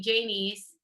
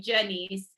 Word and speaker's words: Janeese: so what's interesting is my mom calls me jamie's um and my dad calls me jenny's and so what happens